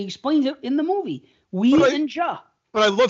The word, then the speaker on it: Ouija: obsessed with a ghost she contacted using a Ouija board, Jim reluctantly joins forces with her ex, his own estranged childhood best friend, to identify and exorcise the evil spirit. Ouija.